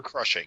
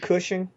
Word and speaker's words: Cushing: actor of all time isn't it Cushing uh yes sorry I Mis mispronounce it in my head but uh that that's